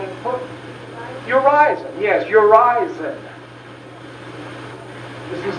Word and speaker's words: Urizen: One is, pronounce the second syllable not with a long I, and he never said how we were supposed to pronounce it. Well, not with a long I, but with a long E, which is perfect, which you could easily do.